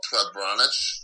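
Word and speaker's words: prebranac: It's called prebranic. Okay. It's spelled P-R-B-B-R-A-N-A-C.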